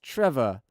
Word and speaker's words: Trevor: that's what it is it's just Trevor and not trevo because everybody calls him Trev I can't I don't